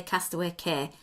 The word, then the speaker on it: Castaway Cay: the castaway a nice I'm saying it wrong I know castaway key Castaway Cay do you know what I think it depends on where you are in the world on how you say it I'd say Castaway Cay I've heard of the people say castaway care I don't care we